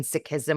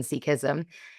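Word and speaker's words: Sikhism: language correctly and so it's sick in sikism or siki not seek He can seekism.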